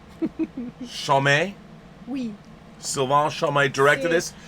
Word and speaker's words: Chomet: Chomet.